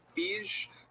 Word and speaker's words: Feige: We also had Kevin Feige. I'm not quite sure how to pronounce his name. Feige. Oh my god, it's Feige.